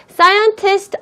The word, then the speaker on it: scientists: Scientists are mostly rational people. 한 번 더. Scientists are mostly rational people. 여러분 혼자. 잘하셨습니다. 자, 여기에서 scientists S 뒤에 발음하는 것까지 꼭 체크해 주시고요.